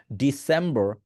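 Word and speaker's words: December: আমি বললাম ডিসেম্বর, আর আপনি বলতেছেন ডিসেম্বর, ডিটাকে জোরে বলতেছেন না, ডিসেম্বর, সেম্বর, এভাবেই উচ্চারণ করবেন, ডিসেম্বর, ডিসেম্বর।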